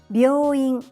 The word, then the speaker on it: 病院: 病院 hospital, 病院病院 Don't confuse 病院 hospital with 美容院 beauty salon. Remember, you need to say B and yo sounds in one syllable to say 病院 The last one is ぴゃ、ぴゅ、ぴょ Repeat after me.